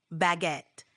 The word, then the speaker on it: baguette: It's pronounced almost like it looks, baguette, with a little emphasis on the second syllable.